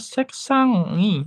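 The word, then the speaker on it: 색상이: Habis itu hamburger lagi konsonan bertemu vokal ya seksangi. Nah, seksangi gitu ya cara bacanya. Seksangi. Jadi bukan seksangi, tapi seksangi. Tetap dibaca eng-nya tetap dibaca seksang. Terus seksangi gitu.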